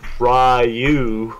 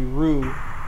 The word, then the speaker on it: Ryu: And then I heard people say, no, it's actually Ryu. I'm like, oh, okay, thank you. Yeah. Alright, it's good to know. Then there's the weebs who are like, no, it's actually Rue.